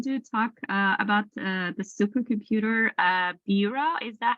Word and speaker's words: Bura: Yes, and Thomas Love is going to talk about the supercomputer Bura. Is that how you say it? Yes, it's Bura.